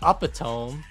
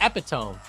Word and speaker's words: epitome: Yeah, I think you say like you don't say upatome, you say epitome.